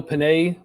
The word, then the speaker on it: Penix: So what I know Panay. It's Panay, right, or Penix? Penix, Michael Penix. Penix. Do they say it Penix? I thought I heard. How do you pronounce his last name? That big Penix energy.